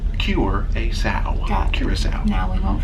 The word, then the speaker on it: Curaçao: By remembering heal a pig, cure a sow.